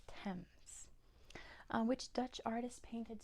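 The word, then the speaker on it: Thames: that is how you spell it it is pronounced TS um which Dutch artist painted star night uhuh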